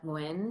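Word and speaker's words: Nguyen: is called rise and her name is Amanda win so her last name is spelled ng u ye N and so I'm gonna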